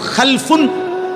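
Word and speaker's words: خَلْفٌ: মাঝখানে একটা লাম আছে, এই লামটার মধ্যে যদি সাকিন হয় তাইলে হলো খালফুন, আর যদি লামের মধ্যে জবর হয় তাহলে হলো খালাফুন।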